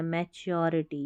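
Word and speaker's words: maturity: इसलिए श पेशेंस यानी धैर्य धीरज और मैं अब इसको मैं टूरिटी नहीं पढ़ना। मैच्योरिटी याद रखें मैच्योरिटी।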